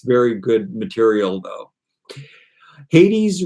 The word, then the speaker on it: Hades: very good material though hades rhymes with 80s um speech fairies thank